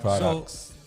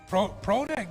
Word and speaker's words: Prodak: So it's spelled Prodak, Prodak. Okay. But everybody calls me Product. What do you prefer? Go ahead and put the mic a little closer to you, Prodak. Prodak, you know, it's just how it's spelled.